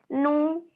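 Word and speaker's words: ν: Nu, ini bacanya nu sebenarnya.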